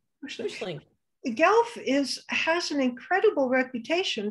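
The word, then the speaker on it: Puslinch: But the actual it's the county of Wellington, but I'm actually moving to a town called Pestlynch. I think that's how you say it. Pushlink, isn't it? Pushlink.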